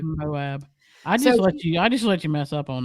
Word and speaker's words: Moab: Is it Moab? Moab, yeah. One of our listeners told us the correct pronunciation. Thank you. Moab.